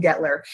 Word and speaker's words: Guettler: That U is silent in Guettler.